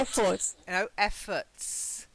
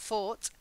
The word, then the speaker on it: effort: no it's the ending it's got the schwa not fought effort okay so you've got you've got a fort so fort is like oh okay a fort then you've got efforts effort effort that's it effort has got the schwa this sound oh okay so try